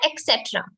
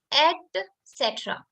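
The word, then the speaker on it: et cetera: people pronounce um etc it's not etcetera it's not x so don't indulge and include your x's in anything and everything you say instead of saying etc it's actually at cetera so it's etc okay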